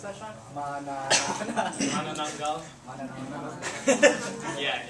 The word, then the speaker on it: Manananggal: How do you pronounce that, Sean? Manananggal.